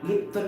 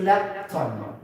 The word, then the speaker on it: lepton: Lipton na to, gahi ito siya, di ba? I forgot. Lipton or lepton? Nakakalimutan ka. Okay, this is lepton, not lipton.